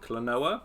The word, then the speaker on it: Klonoa: Is it Klonoa?